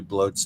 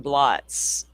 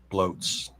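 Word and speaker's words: blót: I keep saying blotss. Bloat. How do you spell that? It's spelled like bl O T, but it's a Norse term, so it's pronounced bloat.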